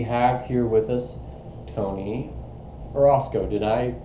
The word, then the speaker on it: Orosco: okay today we have here with us tony orozco did i pronounce that correctly yes sir sir amen um